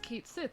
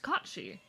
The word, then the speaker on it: Kachi: It's not pronounced Kate Sith, it is pronounced Kachi. That is the proper pronunciation, Kachi.